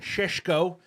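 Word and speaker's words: Šeško: Resiland today is not that guy, but the players they're looking at, both Ali Watkins and Shesho, apparently that's how you say his name.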